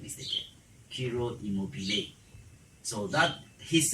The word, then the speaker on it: Ciro Immobile: Ciro Immobile. So that his name, it's pronunciation is the same as what? As the word immobile. They are the same.